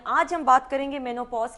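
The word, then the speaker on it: menopause: मेनोपॉज इज the more fashionable and the correct pronunciation. वैसे तो चलता है सब कुछ, क्योंकि अंग्रेजी हमारी अपनी जबान नहीं है।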